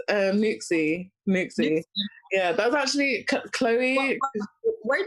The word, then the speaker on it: NUXXE: I don't know how to pronounce it. It's Nuxie.